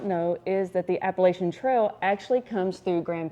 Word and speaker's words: Appalachian: What some of you may know and may not know is that the Appalachian Trail actually comes through Graham County.